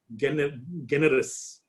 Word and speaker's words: generis: G is pronounced as in guy and not as in gent.